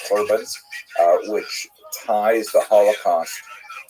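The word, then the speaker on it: חורבן: tend to use the the Hebrew term usually pronounced it's the Ashkanaz pronunciation in the Corbin uh which ties the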